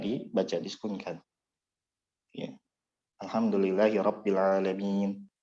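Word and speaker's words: العالمين: Alhamdulillahi Rabbil Alamin. Bukan alamina, tapi alamin, berhenti.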